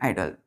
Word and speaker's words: idol: तो देखिए दोनों के प्रोनाउंसिएशन सेम है, आइडल, आइडल, IDOL, IDLE, आइडल, आइडल, लेकिन इसके प्रोनाउंसिएशन सेम, लेकिन स्पेलिंग और मीनिंग अलग अलग, तो इसलिए इनको क्या बोलेंगे हम, होमोफोन्स।